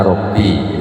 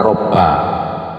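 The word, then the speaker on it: رَبِّ: Ini meskipun harokati di atas, karena di bawahnya tasdid bacanya Robbi, ya. Sekarang karena banyak pakai komputer itu mesti begitu. Dan tidak ngerti kadang-kadang orang bacanya Robba.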